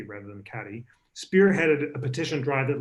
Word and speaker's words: Cady: and Elizabeth Cady Stanton I just learned to pronounce it Katie Brennan Cadi spearheaded a petition drive